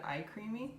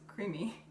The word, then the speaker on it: CREAMi: I'm sorry, I said iCreamy, but it's just creamy.